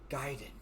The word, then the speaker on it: Gaiden: And he's like, Gaiden. So long I've been hearing Gaiden. So, like, he even knew, it's like, finally, someone's saying it right.